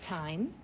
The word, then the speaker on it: time: With your pencil, please write time. T-I-M, with an E at the end. That E makes I say I.